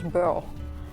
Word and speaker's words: Boerl: So when you try to pronounce Berlin in French, it becomes Boerl, because they cannot do the ending of Lin.